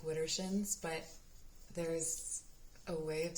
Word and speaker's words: Widdershins: Walk Widdershins, and ask the land under the hill. Ask the fairies. Okay, so this is a specific way of walking. It's Widdershins. I know it just looks like Widdershins, but there's a way of saying it that